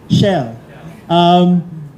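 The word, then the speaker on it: Schell: How do you pronounce it, Tom? Shell.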